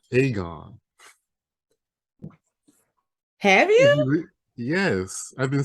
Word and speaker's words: Aegon: with one thing yeah i've been saying his name wrong it's aegon not aegon have you yes i've